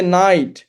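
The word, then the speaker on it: knight: ধরেন সাইলেন্ট কে, যে নাইট, নি, এখানে কিন্তু আমার এন থেকে উচ্চারণ শুরু হচ্ছে, রাইট?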